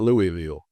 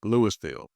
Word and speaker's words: Louisville: Not Louisville. Lewisville is spelled just the same as Louisville, Kentucky, but is pronounced Lewisville.